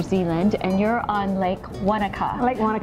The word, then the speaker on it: Wanaka: and you're on Lake Wanaka Lake what's your hot tip for pronouncing that because I always forget to think that you know you want a car I want a car okay so I want